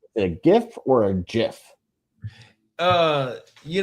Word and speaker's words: GIF: the man the way the man said it's pronounced gif yeah well right we we'll go with that